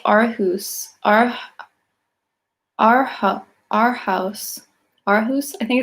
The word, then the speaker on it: Aarhus: Thank you for validating my pronunciation, Aarhus.